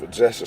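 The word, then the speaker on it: Pchacek: It's Possessor state.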